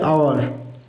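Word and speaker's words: hour: দেখো এটা আওয়ার, কি বললাম?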